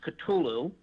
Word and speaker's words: Cthulhu: and I explained to her I said it's pronounced Cthulhu he's a HP Lovecraft character one of the